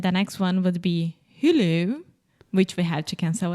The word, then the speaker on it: Hulu: who okay but IEX it's not who who that almost seems French who who Hulu Hulu Hulu Hulu perfect okay so I have